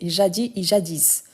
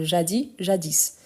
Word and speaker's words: jadis: Je vous rappelle que tel que tandis on peut prononcer jadis tandis tandis. Donc il y a deux accents par rapport à ces mots-là. Donc jadis. Moi je préfère utiliser jadis.